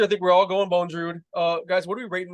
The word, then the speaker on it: Bondrewd: So I think it's pronounced Bondrewd.